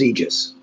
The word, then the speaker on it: aegis: whatever with yours truly and the word is aegis pretty old word it's Latin it's pronounced Aegis and sometimes spell the eg is